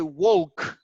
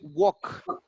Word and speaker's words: walk: We don't say woke. We say walk. So the L is not, it's omitted.